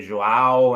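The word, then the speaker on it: João: what so i i open it and hey joao and try to get people to understand and i normally spell it as well j-o-a-o and there you go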